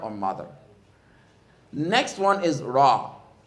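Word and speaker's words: راء: Next one is ra. Ra has a little bit of roll when you pronounce it, and part of it goes below the baseline, correct?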